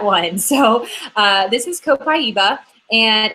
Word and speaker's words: copaiba: and people always wonder like how do you pronounce that one so uh this is copaiba and it's got a really light light refreshing